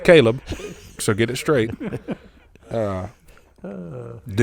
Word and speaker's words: Caleb: It's pronounced Caleb, so get it straight.